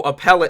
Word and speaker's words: appellate: i'm concerned she's qualified oh appellate is how you say it okay okay if the